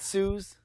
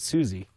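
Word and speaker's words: Suze: you sure it's not Suz I it's spelled s u Ze but she pronounces it Susie okay I used to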